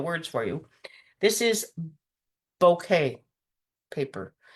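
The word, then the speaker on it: bokeh: for you this is bouquet paper it's it's pronounced almost like a bouquet of flowers but it's spelled differently but it is the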